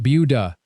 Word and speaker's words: Buda: It's pronounced Buda, and if you get it wrong, locals will correct you immediately.